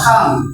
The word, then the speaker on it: come: কি উচ্চারণ হবে? খ। সিতে খ। খাম, খাম অর্থ কি?